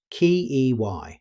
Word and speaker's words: quay: Although the spelling looks unusual, it's simply pronounced Key, exactly like the word key.